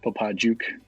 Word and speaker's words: Popadziuk: rala and today i have mitchell uh did popatzyuk pronounce it right yeah it's more of a heart j popa juke it's a polar bear yeah you know you